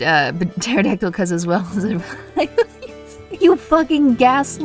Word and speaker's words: pterodactyl: took that completely seriously the p is silent so pterodactyl's pronounced pterodactyl i know i know